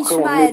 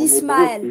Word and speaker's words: Ismaël: C'est pas Ishmaël, c'est Ismaël. Tu vois, on va pas s'embrouiller pour ça, mais Ouais, c'est mais pas après, Ishmaël, c'est en hébreu, c'est Ismaël.